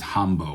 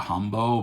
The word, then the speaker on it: Hambo: So the Oulu Hotshots are playing this tune, and in the track listing it says Hambo, which is a Scandinavian couples dance.